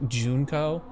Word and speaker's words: Junko: we are uh no the way you said it junko junko Jun Juno yep junco is the correct pronunciation I'm going to be